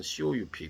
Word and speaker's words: coup: 또 여덟 번째로 미얀마's military coup, coup and protest. 그래서 미얀마 군대가 예전에 그 쿠데타를 일으켰죠. 그래서 COUP 쿠데타를 영어로 표현할 땐 쿠인데요. P 발음을 하지 않는답니다.